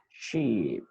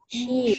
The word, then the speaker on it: sheep: Sheep. Harus panjang. Ini bacanya adalah Sheep. sheep.